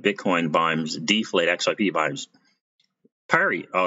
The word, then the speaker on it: Perry: Perry. Oh, it's pronounced Pari or Perry.